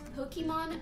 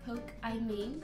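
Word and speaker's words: Pokimane: And it's actually pronounced Pokemon, not Poke I Mean, because what the actual fuck?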